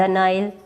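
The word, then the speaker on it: Nile: Ganga, the Yamuna, the नाइल, नील नदी है जो इसको इंग्लिश में प्रोनाउंस करते हैं नाइल, सॉरी।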